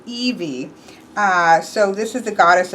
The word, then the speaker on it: Hebe: Hebe is what I guessed, but it is actually Evie.